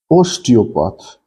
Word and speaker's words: osteopath: look at other words osteopath the stress file pronunciation is on os part so chiropractor the stress